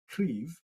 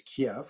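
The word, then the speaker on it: Kyiv: so troops have slowly been advancing move towards the capital city of cleve which most people pronounce as kiev i was corrected just before the show um they have taken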